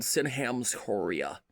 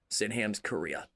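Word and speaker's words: Sydenham's chorea: Sinam's Korea. And Korea is spelled different. is spelled H or spelled sorry S Y N H A M apostrophe S C H O R E A H it's an African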